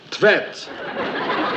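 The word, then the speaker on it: Tvedt: How would you pronounce that, then? Tvet. T-V-E-D-T. Oh, must be a typo.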